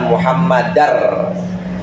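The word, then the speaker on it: مُحَمَّدًا: wa Ashadu anna muhammadan tapi cara bacanya karena ada tanwin bertemu dengan ro namanya idgam bilun Bil gunna maka harus wa anna muhammadar jadi rnya dobel enggak dobel kalau ada orang baca wa Ashadu anna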